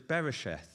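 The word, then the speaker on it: בראשית: And I'm not very good at Hebrew pronunciation, but it's beresheth.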